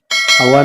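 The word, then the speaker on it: awak: अवा नमापा। अवा नमापा जैसे मैंने बोला था, अवा में के साइलेंट होगा, ठीक है।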